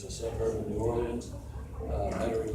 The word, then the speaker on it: Metairie: suburb of New Orleans, Metairie, Louisiana. That's what I heard them pronouncing it down there.